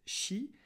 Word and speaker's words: chi: en forme du alors c'est une forme de x mais ça se prononce chi et du c'est une